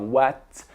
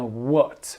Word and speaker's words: what: is your favourite coll attention la prononciation dit par watt mais bien what what were ouais vous